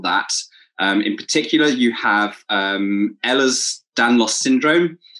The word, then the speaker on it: Ehlers-Danlos: In particular, you have Ehlers-Danlos syndrome. It's termed as EDS, so that I didn't quite pronounce that wrong, I don't think.